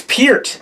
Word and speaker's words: Peart: me and you're like, I've been saying Neil Peart wrong all these years. And I was like, how do you even mispronounce? Like, have I been like hearing Patrick say like, oh yeah, I love that Neil Peart. It's Peart. It's Peart?